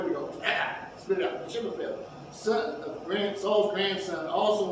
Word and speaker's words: Mephibosheth: Mephibosheth. I've been saying it all this time. Mephibosheth. Yeah, Mephibosheth. There we go. Spit it out. Mephibosheth, son of Saul's grandson, also went down to meet the king.